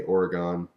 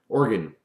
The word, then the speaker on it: Oregon: People are constantly correcting me because I want to say Oregon. And I know that's not how you say it.